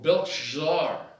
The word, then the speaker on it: Belshazzar: He said, the king Belshazzar, he said, they named him Belshazzar, or Belshazzar. You can pronounce it either way, once again.